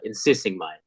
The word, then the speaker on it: Insixiengmay: calls me and my last name is insisting M yeah and the reason I butchered it is because I know people with